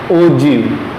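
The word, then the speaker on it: ogive: Text book में लिखा हुआ है आपको ब्लू बॉक्स में, इसको प्रोनाउंस कैसे करना है, ओजीव करके उसको प्रोनाउंस करना है.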